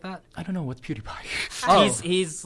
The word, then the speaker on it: PewDiePie: If PewDiePie, how is it, PewDiePie, right? PewDiePie. That's how you pronounce it.